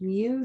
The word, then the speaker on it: mu: in that data set the population arithmetic mean pronounced mu so we have this little greek letter mu